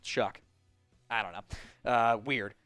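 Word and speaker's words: Shough: S H O U G H pronounced Chuck.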